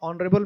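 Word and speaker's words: honourable: और ऑनरेबल में क्या होता है, एन, एच साइलेंट होता है।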